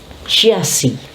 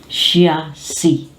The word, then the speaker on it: chassis: Next is chassis. When words are heavily influenced by French, this one becomes silent. So this becomes chassis. CH has the sound of SH, and the SIS is sounded as C.